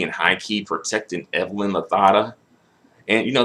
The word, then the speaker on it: Lozada: high key protected Evelyn Lozada and you know that's how you pronounce her last name actually if you were in Spain the Z is a th so Evelyn Lozada but that's another story